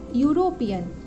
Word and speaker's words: European: Like यूरोपियन, EUROPEAN, यूरोपियन, इसका जो first letter है ई, और ई क्या है, वोवेल है, लेकिन इसका हम अगर साउंड निकालें यूरोपियन, तो ये किससे आ रहा है? इसका प्रोनाउंसिएशन करते समय हम देख रहे हैं कि यूरोपियन, हिंदी का य मीन्स वाई आ रहा है इसका साउंड। तो ये इसे हम ये